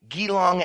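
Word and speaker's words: Geelong: Kitty puts it quote Think Jesus or giraffe but without the stresses end quote soong Elementary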